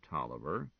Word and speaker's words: Taliaferro: Tolliver. Hey, it says here, see also Taliaferro. That's the original spelling, said Gwen. But it's pronounced Tolliver just the same.